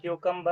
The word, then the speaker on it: cucumber: और इसको क्यूकम्बर ऐसा प्रोनाउंसिएशन करना है. क्यूकम्बर.